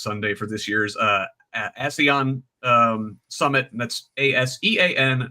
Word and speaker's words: ASEAN: for this year's, uh, ASEAN um, summit. That's as an association of Southeast Asian Nations. And I always want to pronounce it, hey Sean.